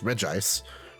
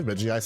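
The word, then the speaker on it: Regice: I would say Reggie Ice. No, it's supposedly pronounced Reg Ice. I say both. I say Reggie Ice and Regist. I say both interchangeably, but good old.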